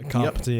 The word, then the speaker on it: Kapiti: So you're based in Kapiti Coast? Yeah, Kapiti, Parapaumu. Yep, very nice. Good pronunciation, like it. Unlike mine, sorry.